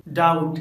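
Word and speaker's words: doubt: जब letter B के बाद टी आता है तो बी साइलेंट होता है, जैसे डाउट डेट डेटा या डाउटफुल।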